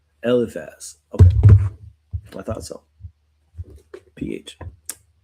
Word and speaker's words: Eliphaz: Eliphaz. Eliphaz. Okay, with the F. Eliphaz.